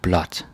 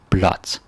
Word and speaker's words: blåt: So you say blot. And yeah, the pronunciation changes from blå to blah, and like blah. That sounds funny, but it becomes blot.